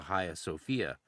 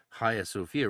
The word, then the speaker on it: Hagia Sophia: And then it reappears of course in the Haya Sophia famously um Hagia Sophia for for some of you people if you're trying to spell it. Haya Sophia, right?